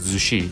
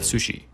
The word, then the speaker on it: zushi: And yes, in this case it's technically pronounced zushi, like with a Z, instead of sushi.